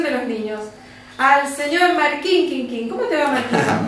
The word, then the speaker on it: Markin: Todos me dicen Martín Quinquín. No, Marquín. Y es Marquín, porque claro.